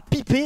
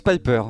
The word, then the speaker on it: Piper: Combiné à l'agent de rang A pipé, elle délivrera des énormes coups critiques. Je crois que ça se prononce Piper.